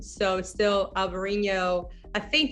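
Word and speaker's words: Alvarinho: different spelling so still alvarino i think the spanish they just say albarino and the portuguese who just say alvarino so yeah but it's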